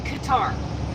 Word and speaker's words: Qatar: calming but I'm never C I learned in Qatar and yes that's how you pronounce Qatar the six months the 6 months I was